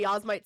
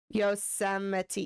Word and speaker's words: Yosemite: doing Yasmite Sam, because I still just say Yasmite Sam. Yosemite, Yosemite, Yosemite, Yosemite, Yosemite. Yosemite. Yosemite. Your girl's gonna be saying that for the next, like, week until I have Yosemite pronunciation correctly.